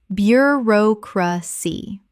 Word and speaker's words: bureaucracy: Bureaucracy. 4 syllables with the stress on the second.